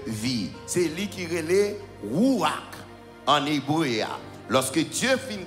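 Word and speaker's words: רוּחַ: il v dire sauf ou bien vend il prononcé comme noma mais en hébreu en hébreu il dit c'est rouac rouac qui voulait dire vent il écrit écrit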